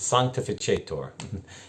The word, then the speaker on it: sanctificator: But it's sanctificator in the Italian way of pronouncing Latin. There are those who want classical pronunciation, but that's not used at Mass.